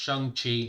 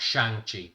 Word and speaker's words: Shang-Chi: Yes, it's pronounced Shang-Chi, not Shang-Chi.